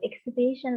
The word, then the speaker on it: exhibition: Nó là danh từ, exhibition là danh từ và nó sẽ stress on the, that's right, on the third syllable, on the third syllable, okay?